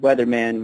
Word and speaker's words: Whetherman: For 10 years, I was performing under a moniker called Weatherman, which is spelled Whetherman, Right. like whether or not man.